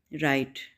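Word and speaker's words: right: तो राइट, राइट में जी silent है, इसको प्रोनाउंस नहीं करेंगे, ठीक है। राइट, जी की साउंड क्या होती है, ग, तो यहाँ पे ये इसको प्रोनाउंस नहीं करेंगे, साइलेंट होगा, तो इसको प्रोनाउंस करेंगे राइट, ठीक है।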